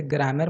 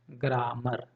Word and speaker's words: grammar: आर है ना, आर, इसको मैं प्रोनाउंसिएट कर रहा हूँ ग्रामर, ग्रामर। लेकिन इसका रियल प्रोनाउंसिएशन है ना ग्रैमा, ग्रैमा, ग्रैमा। आर को मैं प्रोनाउंस नहीं कर रहा हूँ, आर को मैं नहीं बोल रहा हूँ। ठीक है, आर को प्रोनाउंस नहीं करना है।